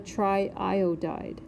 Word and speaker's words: triiodide: You might have a triiodide. So you'll notice triiodide. I'm saying both I's, I'm using both I's, and so you'll need to include both.